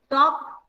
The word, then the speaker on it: talk: So same way we can write talk and walk. Talking and walking, all of you know. Talk and walk, L is silent.